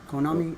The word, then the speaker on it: Konami: Konami.